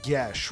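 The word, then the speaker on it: geas: Does path have a spell like Gaes? Oh, no. That's technically pronounced gish, right?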